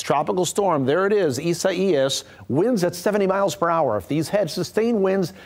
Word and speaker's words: Isaias: Tropical storm, a strange or different pronunciation. Isaias is the way this is pronounced.